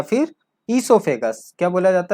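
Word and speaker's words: oesophagus: ईसोफेगस में ये ओ जो है ये साइलेंट है, ये आप लोग याद रखिएगा।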